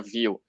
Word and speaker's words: Vue: É Thiago, view, exatamente. É view é uma palavra francesa, né? Que pronuncia view.